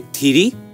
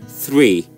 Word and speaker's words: three: We say tiri, but it's actually three.